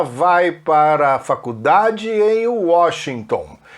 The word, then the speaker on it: Washington: She goes to college in Washington. Ela vai para a faculdade em Washington. O brasileiro fala Washington. Eles falam Washington. O ON para americano tem uma pronúncia AN.